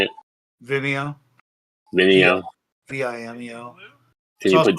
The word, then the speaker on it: Vimeo: Vimeo.